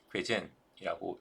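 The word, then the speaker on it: Geuzaine: 크리스토프 뭐라고 돼 있죠 발음이 안 돼서 찾아봤더니 어 크리스토프 괴제이라고 읽으면 된답니다 벨기에 교수님이시다 크리스토프 젠 이분이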